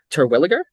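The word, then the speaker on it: Terwilliger: um uh Cooper uh correct me if I'm wrong pronouncing his name Turwilliger. I think it's Yeah. No, that's correct. I think that's correct.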